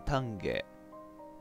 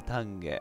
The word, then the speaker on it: 丹下: てきました丹下てもらしい単木学園って読むらしいです今だね企画たんげーラグ者の声もたんゲーさっき子や